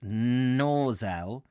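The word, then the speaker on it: Gnosall: lost passing through the village of no saw pronounced nor zal by the boatman we entered another of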